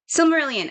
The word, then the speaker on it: Silmarillion: Is that how you pronounce it? Yeah. Silmarillion.